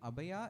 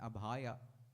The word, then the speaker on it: abhaya: Bhagavan always in his there's a difference between abaya and abhaya. When you slightly tweak the word instead of saying and you say the aa becomes dangerous. So sometimes when you say things words also pronunciation we have to be very careful.